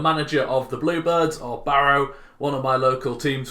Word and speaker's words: Barrow: So we're going to be starting off with my local team, Barrow, or Barrow as it is pronounced correctly where I'm from.